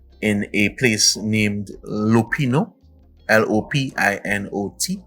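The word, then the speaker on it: Lopinot: a place named lupino l-o-p-i-n-o-t lopino it's pronounced and um we're here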